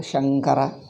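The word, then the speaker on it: शङ्कर: is okay but shankara how do we pronounce shamkara you watch it you watch my sound shamkara or shankara shamkara we don't say because of the later consonant similarly gamma we don't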